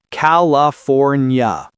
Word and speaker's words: California: A classic. California. The R in four is fully pronounced and the nya ending comes from the ina.